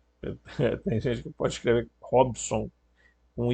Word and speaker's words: Robson: Esse Rob, o B é mudo, tá? Tem gente que pode escrever Robson com I, tá?